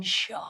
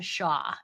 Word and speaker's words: Shah: star Jen Shah.